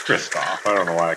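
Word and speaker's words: Kristoff: Kirstoff, it's Kirstoff.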